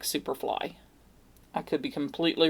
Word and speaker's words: Syperfly: It's s y p e r fly, but I'm assuming it's supposed to be pronounced like superfly.